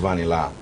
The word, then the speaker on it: Vanilla: It's spelled Vanilla, but it's pronounced Vanilla. That's Vani, as in short for Evans, and La means sing. So it's Vanilla in Ghana.